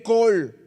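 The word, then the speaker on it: קול: Y esta palabra se traduce la 6963 se escribe col, así como si fuera el diminutivo de colonia, ¿no? Col como tal.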